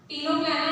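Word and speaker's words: Ctenoplana: टीनोप्लाना इसको सी जो होता है इनमें साइलेंट होता है।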